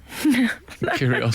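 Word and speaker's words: Kyrgios: kill the cat um curios kill the cat he has a silent G in his name you see the one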